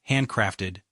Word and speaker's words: handcrafted: Pronunciation, nudge, handcrafted, stress on craft.